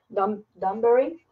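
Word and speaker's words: Dewberry: ¿Danbury? Sí, sí lo pronuncié bien.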